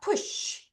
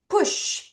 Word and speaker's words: push: 자, 여러분, SH 발음 어떻게 한다 그랬어?이 쭉 떼세요. 다시 한 번 더 그러면 발음해 볼게요. 푸쉬. 다시 푸쉬. 앞에 강세가 있겠죠? 보통 이렇게 모음에 강세가 있는 거니까. 자, 푸쉬.